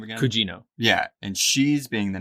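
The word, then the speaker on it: Gugino: Cugino.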